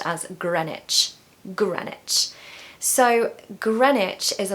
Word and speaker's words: Greenwich: sorry number nine is Greenwich Greenwich Greenwich so with this word we need to take away one of the E's and we need to take away the W so that it should